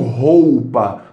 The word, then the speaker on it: roupa: Só que a maioria das pessoas não pronunciam roupa com esse U tão marcado. Pronunciam roupa. Roupa. Eu irei lavar roupa. Cadê o U? Tirou o U, né? O U é tão fraco que muitas vezes a gente pode eliminar.